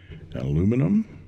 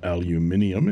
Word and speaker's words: aluminium: is the steel form aluminum or aluminium if you want to add extra letters and it has a